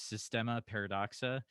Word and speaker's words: Systema Paradoxa: to make sure i'm saying it right is systema paradoxa that's the one thing okay perfect perfect uh